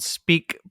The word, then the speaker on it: Speke: uh yeah so the podcast agency is called speak podcasting and it's it's called uh it's spelled s-p-e-k-e it's named after uh my dogs